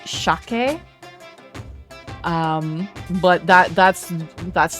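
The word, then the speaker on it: しゃけ: um like Osaken like like kansai dialect where it's shake.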